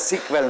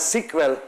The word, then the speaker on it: SQL: a structured English-like query language, SEQUEL, which is pronounced as SQL naturally, which was subsequently standardized through an international standard organization, and that is now called SQL. It is still pronounced as SQL by most people in honor of the original one.